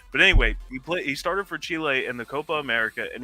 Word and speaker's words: Chile: No, it's Chile. That's Chile. It's Chile. That's not how you pronounce it. Chile.